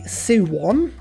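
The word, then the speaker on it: Seowon: Firstly, the Suwon, which is how you pronounce it.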